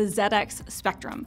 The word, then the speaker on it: ZX Spectrum: the ZX, excuse me, we're British, so I should say it properly, the ZX Spectrum.